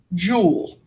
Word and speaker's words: Joule: scientists so we're going to use and it's pronounced Joule Joule is the SI unit and that's what